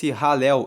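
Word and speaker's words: Hallel: do alo egípcio a se escreve h a l l e l pronuncia ralel egípcio e Esses Salmos do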